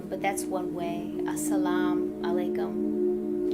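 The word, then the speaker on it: السلام عليكم: that's one way a salaam alaikum not with an eye at the end of it at the end of salaam some people put a u so they might say it like assalamu alaikum but the way that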